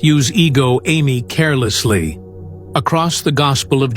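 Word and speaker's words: ἐγώ εἰμι: That phrase is ego amy pronounced ehgo a y me.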